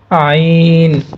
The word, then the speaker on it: ع: দিয়ে শুনেন জ অতঃপর আইন এটা গলার ভিতর থেকে আসবে আইন আইন আইন অতঃপর গইন গাইন এটা